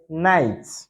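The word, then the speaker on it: knight: For instance, K is not pronounced in the word night. K is not pronounced in the word night.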